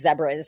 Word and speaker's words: zebras: lions and um how zebras which they're pronounced zebras in South Africa right yes they they